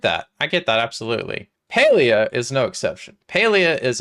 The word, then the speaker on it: Palia: I personally say Palia because I play with my pals, and the IA at the end makes it sound like a place like Russia or Asia. I personally say Palia, but I don't think it matters, really, how you say it.